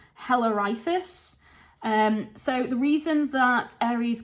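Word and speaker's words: Halirrhothius: It's spelled Halirrhothis. So I think it's pronounced Hellerithus. So the reason that Ares killed Hellerithus was for attacking and raping Alcippe.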